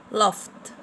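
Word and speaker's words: laughed: هنا اتشوبت اتشوبت، هلبت هلبت، كوكت كوكت، ووكت ووكت، توكت توكت، لفت لفت. طبعا هنا بقول لي اف، هنا جي اتش بنطقهم اف، جي اتش بنطقهم اف، هنقول لفت لفت، كست كست، ووشت ووشت، برشت برشت، ووتشت ووتشت.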